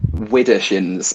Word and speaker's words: Widdershins: Widdershins, Widder shins, SHIN.